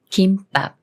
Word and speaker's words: 김밥: 중에 어떻게 읽고 할까요 미음 받침이 초성 비읍 만났습니까 조성 읍이 쌍비읍 술인 뿔과 되면서 김밥이라고 읽어요 김밥이 남 말은 감사와 감사